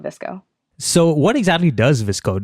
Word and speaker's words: VSCO: right now I work for a company called visco so what exactly does visco do yeah so um disco which is a spelled vsco we pronounce it disco but you can pronounce it however you want